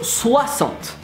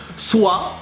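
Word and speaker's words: soixante: without penultimate then 60 here you will think it's C sounds right well no it's a sounds because French I mean you thought you got it and it would be easy so swap swap like Swaziland oh you didn't see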